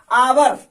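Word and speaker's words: hour: आवर, इसका exact pronunciation देखिए, इसका जो होगा आव। अब देखिए ये इंग्लिश में तो एच है, लेकिन हिंदी में अ, यानी हिंदी में स्वर हो रहा है, यानी इसके पहले किसका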